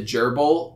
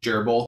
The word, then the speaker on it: GRBL: have to download the gerbil which is spelled grbl all caps but I believe it's typically pronounced gerbil you'll need that library